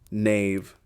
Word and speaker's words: knave: Knife, knee, knave. They all start with that mysterious K you never pronounce, like a ghost letter haunting the word.